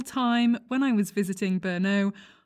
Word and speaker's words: Brno: when i was visiting brno i kept pronouncing it bruno instead of brno and everyone was basically